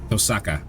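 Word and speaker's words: Tohsaka: a grimore passed down to the Tusa line tosaka that's how they pronounced it mental switch is flicked I pass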